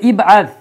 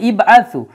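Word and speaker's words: ابعث: আছে এর পূর্বে, হ্যাঁ, যদি ইবআস শব্দটা একদম শুরুতে থাকতো বাক্যের, তখন এই হামজাতুল ওয়াসলের উচ্চারণ হতো। যেহেতু এর পূর্বে ওয়াও আছে, এটা সব সেন্টেন্সের ভিতরে আছে, এর পূর্বে ওয়াও আছে উচ্চারণ করার জন্য, এই জন্য কিন্তু এই জায়গায় হামজাতুল ওয়াসলের আর উচ্চারণ হয় না।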